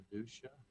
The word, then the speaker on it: Fiducia: Fiducia. F I D U S C I A. Fuchia. Like fiduciary like trust. Fiduciary minus the R Y.